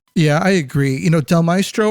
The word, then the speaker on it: Del Mastro: I agree you know Del mestro or Del Mastro you I need to learn how to pronounce his name Mastro I believe I think I said it